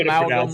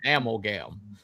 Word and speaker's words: amalgam: Well, I mean, if you want to call it amalgam, that's fine. That amalgam is the way right way to pronounce it, but they were calling it amgam.